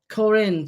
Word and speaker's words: Corinne: And Corinne's saying it's Corinne to rhyme with Colin.